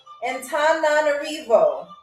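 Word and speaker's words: Antananarivo: So the capital city of Madagascar is Antan Antanarivo. Antonarivo.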